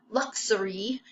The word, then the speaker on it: luxury: part says II luxury now our sound gets a little bit lazy in our mouth when we put these three syllables together it's not luxury it's luxury okay so the sound changes just a little bit as we pull the syllables together what does luxury mean well